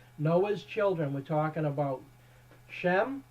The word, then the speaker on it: Shem: children we're talking about shem which is actually pronounced more like sham or shame shame is actually the best